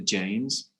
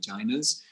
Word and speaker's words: Jaina: More correctly pronounced if you're using the Sanskrit pronunciation of Jainas, because it's spelled J-A-I, the phonemes are J-R-E, Jaina. But in Hindi, often the last A is dropped off a Sanskrit term. So you get Jain, and then anglicized it becomes Jain.